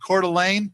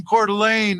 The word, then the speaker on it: Coeur d'Alene: not there's a town over in idaho called coeur d'alene yeah i always see it i always spell it c-o-r-e uh hyphen d-u-h hyphen l-a-n-e delay